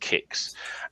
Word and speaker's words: QIX: Which was, I think it was QIX, pronounced Kix. And I don't think it exists anymore.